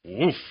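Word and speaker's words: Woof: Now, that's spelled W-O-O-F, Wolf, as in dog bark.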